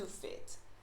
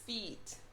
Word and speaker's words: feet: say the word is feet i have two feet you have to pronounce the double e and don't let the e sound like i i have to fit no it's two feet so because of that